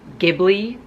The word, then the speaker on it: Ghibli: readathons I did the Ghibli upon May you guys say ghibli but in japan it's pronounced Djibouti and I live in Japan so I know what I'm talking about okay it's Ghibli I did the Litha